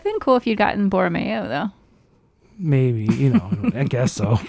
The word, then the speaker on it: Borromeo: Borromeo.